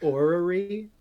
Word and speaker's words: orrery: I learned the word orrery today, Yes. which is spelled like the cluster of R's it sounds like.